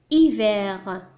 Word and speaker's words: hiver: الحرف H c'est une lettre muette حرف صامت لا ينطق ينطق hiver donc c'est la lettre H minuscule de l'écriture script H minuscule de l'écriture cursive.